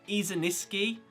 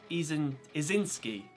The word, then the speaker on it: Izinski: I'm pretty sure I keep throwing an extra syllable on her last name. I'm saying Izuniski, but it's just Izinski, right?